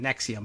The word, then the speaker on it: NXIVM: This is how this is pronounced, just like the medication, Nexium, but it is spelled in all capital letters as Nxivm.